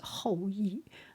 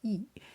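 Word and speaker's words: 后羿: His name is Hoi. And some people say his name is E.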